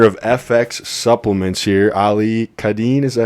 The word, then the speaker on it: Kaadan: we have the owner of FX Supplements here, Ali Kaadan. Is that how you say it? Kaadan.